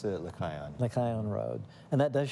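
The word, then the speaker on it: Lechaion: I pronounce it Lycaon.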